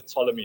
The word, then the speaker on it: Ptolemy: It's a concept called the Ptolemy trap. It's a silent P, so it's spelled Ptolemy.